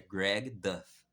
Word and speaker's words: Greg Duff: Abrasileirado, o nome dele seria tipo Greg Duff. Mas quando você vai ver como se pronuncia corretamente, é Greg Duff.